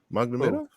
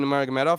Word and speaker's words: Nurmagomedov: Didn't fight Magdamenov? Am I saying his name wrong? Habib Nurmagomedov, he's retired.